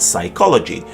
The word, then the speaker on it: psychology: as pneumonia and pneumatic, and it's silent before S in a different selection of words such as psalm, psyche, and psychology.